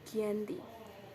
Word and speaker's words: Giyanti: Nama Giyanti ini diambil dari lafaz Belanda, yaitu Janti atau Ianti, dengan pengucapannya yaitu Giyanti.